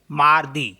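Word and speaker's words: mardi: हैं फ्रेंच में एम आ एर दे ई मारदी सो मारदी मीस होता है ट्यूजडे मारदी इज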